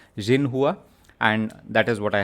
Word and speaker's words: Xinhua: Xinhua. You pronounce it with a Z, not X. You pronounce it with a Z. Xinhua.